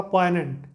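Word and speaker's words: poignant: एन ए एन टी जी इसमें silent है इसका प्रशन होगा पोनेंट पोनेंट का मतलब होता है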